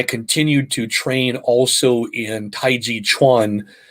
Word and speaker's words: Tai Chi Chuan: And then I continued to train also in Tai Chi Chuan, which is most people know as Tai Chi, um, incorrectly translated and pronounced because the Chuan denotes fist and application.